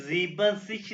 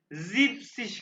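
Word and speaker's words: siebzig: सही कहा यहाँ पे उन्होंने जीबन सिच नहीं कहा ये एक आउस नाम है एक्सेप्शन है यहाँ पे जैसे यहाँ पे 70 ये जिप सेन है वैसे ही 70 को जिप सिश कहेंगे जिप सिश ठीक है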